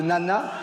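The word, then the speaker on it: Nae Nae: Il y a une danse qui marche, qui s'appelle le nana. Le nana? Ouais, ça s'écrit N-A-E, N-A-E.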